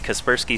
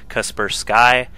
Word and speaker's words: Kaspersky: on my ass about how to pronounce kasperski he thinks it's kaspers sky that just seems weird to me so I'm just going to continue calling it kasperski anyway scrap station TVP